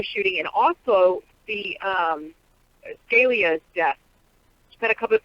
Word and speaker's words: Scalia: that how how you say his name yeah Scalia yeah yeah it is yeah so he he